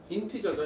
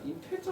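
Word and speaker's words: integer: 인티저죠, 인티저. 정수는 인티저. 정수 뭐라고요? 인티저입니다. 인테저 아니에요. 인티저예요. 인티저. 근데 안타깝지만 정수 기호는 저걸로 안 씁니다.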